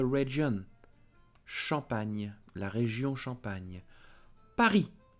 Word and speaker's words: Paris: Paris. S is not pronounced. Paris.